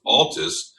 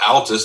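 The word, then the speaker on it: Altes: bugging him and he remembers it was always pronounced Altus not alus like alkaline he says anyway he says when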